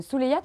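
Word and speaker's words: Souleïado: Oui, voilà, on ne le prononce pas, c'est pas Souleyado, c'est Souleyad, c'est ça?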